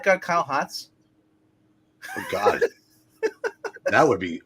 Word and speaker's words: Hotz: Based off of this alone, what I've seen of Kelly Hotz, I do like this. Okay, Kelly, it's pronounced Hotes.